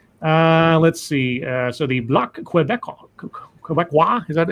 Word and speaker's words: Québécois: So the Bloc Québécois, is that how to say it? Yeah, Québécois, yeah.